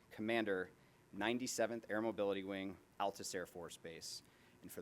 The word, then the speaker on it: Altus: And for those of you who are going to Altus, it's pronounced Altus, not Altus. That's very important, trust me. Very. Very important. You don't want to go down there and say Altus.